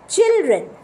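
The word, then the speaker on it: children: হচ্ছে বোঝা গেছে তাহলে স্পেলিং একরকম লিখলাম আর উচ্চারণ আরেক রকম করছি তার পাশাপাশি যদি আমরা দেখি চিলড্রেন আপনারা সবাই দেখতে পাচ্ছেন চিলড্রেন চিলড্রেনেও কিন্তু আমরা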